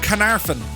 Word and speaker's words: Caernarfon: We're here in a place called, I'll pronounce it for you. It's called Carnarvon.